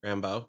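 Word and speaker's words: Rambeau: How do you pronounce that name? Rambo.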